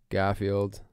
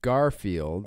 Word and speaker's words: Garfield: But the second half or the second bit of Garfield is the word field. Right. So it should be Garfield.